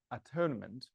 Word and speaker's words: atonement: And I said several times that the word atonement should be probably pronounced at-one-ment, because it comes from the idea that it is that which makes one.